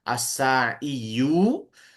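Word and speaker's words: الساعي: Harusnya as-sa'iyu. Nah, tapi kata orang Arab itu berat. Kalau kata kita sih gampang-gampang aja, tapi kata orang Arab tuh diucapkannya berat gitu, kagok gitu. Maka si dhammahnya dianggap ada tapi nggak dibaca. Ya, tapi secara teori itu dianggap ada as-sa'iyu, domanya dianggap ada, sudah saja dibacanya as-sa'i gitu.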